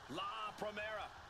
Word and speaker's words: Vaquer: La Primera, Stephanie Vaquer.